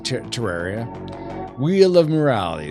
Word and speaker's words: Terraria: Neko says, yes, it's Tundaria, whoops, I said it wrong, Terraria.